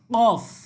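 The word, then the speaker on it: كاف: এখানে দেখেন কফ, কফ গলা থেকে ওই যে যেভাবে আমরা হা উচ্চারণ করেছি, যেভাবে আইন উচ্চারণ করেছি ঠিক সেভাবে উচ্চারিত হবে কফ, ঠিক আছে।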